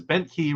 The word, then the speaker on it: Bent Key: Yes, Tom Siebert says Bent Key rhymes with Disney.